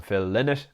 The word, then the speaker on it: Lynott: I go with um I know a lot of Irish people still call him Phil linnett and that's absolutely fine I think the important